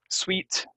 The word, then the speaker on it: suite: you sew it for me um that's the pronunciation extraordinary extraordinary um 2020 has been an extraordinary Year sweet um like a fancy hotel room that has